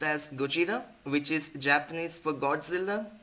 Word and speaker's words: Gojira: The product name comes from the second syllable of the Japanese word pronounced as Gojira, which is Japanese for Godzilla.